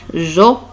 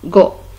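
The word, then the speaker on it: ge: Mais lorsqu'on ajoute ici E, se prononce jo et ce n'est pas go. Pourquoi on a écrit ici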